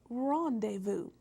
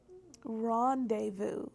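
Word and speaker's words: rendezvous: um and it is Rondevu Rondevu yes Rondevu is spelled re n d e z v o u s and that Z is silent and this is a French word and I'll use the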